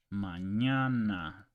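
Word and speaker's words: mañana: it's pronounced it's it's called an and it's pronounced as Canon Canon Canyon in English or onion so let's give you an example Manana ESP seor okay manana means tomorrow tomorrow ESP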